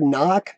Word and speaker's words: knock: I mean, the word knock is Knock. It's still an N sound, so why does the K have to be there?